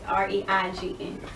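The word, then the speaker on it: reign: Rain down is R-E-I-G-N.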